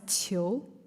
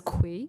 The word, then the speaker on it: Qiu: I've heard a lot of my friends who are Americans who thought it would pronounce as Kui, which is very normal because the Queen, like, it starts with Q, so I totally understand. But it's Qiu.